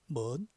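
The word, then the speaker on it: 門: 중국어로는 먼 발음됐죠.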